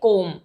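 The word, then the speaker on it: comb: B silent हो जाएगा तो हम इसे प्रोनाउंस करेंगे कोम जो कि ऑलमोस्ट लर्नर्स या स्टूडेंट्स यूज करते हैं कोम इसी तरीके से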